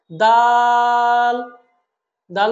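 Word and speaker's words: دال: উচ্চারণ করতে হবে অর্থাৎ জিহবার আগাটা উপরের দাঁতের গোড়ার সাথে বলুন আমার সাথে দাল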